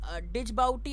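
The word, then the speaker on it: Djibouti: डिजबाउटी अडीस, डिजबाउटी इज the terminal station है डिजबाउटी, the pronunciation है the pronunciation है डिजबाउटी। ओके, द डजी वो स्पेलिंग जो है DGI है, DJI है, बट आपका प्रोनाउंसिएशन होगा डजबाउटी।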